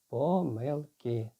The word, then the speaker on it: помилки: В слові помилка в однині наголос можна і таким чином, і таким чином поставити. А от коли переходимо до множини, то тільки помилки. Отже, якщо ми будемо пам'ятати